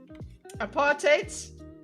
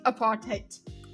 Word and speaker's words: apartheid: Apartate. Look guys, it's it's it's pronounced apartate. Easy to remember. Based in hate, based in hate. Apart hate. Okay, just remember it that way.